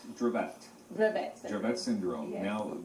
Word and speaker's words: Dravet: So it is pronounced Dravet.